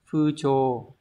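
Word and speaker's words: 風潮: Từ này đọc là gì các bạn? Fucho.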